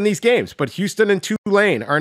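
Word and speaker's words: Tulane: I said it right right did I say two lane correct yeah they got I said two lane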